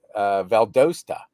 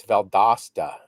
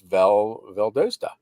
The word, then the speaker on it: Valdosta: But yeah, I did that Valdosta. And in Georgia, and people are saying, no, it's Valdosta.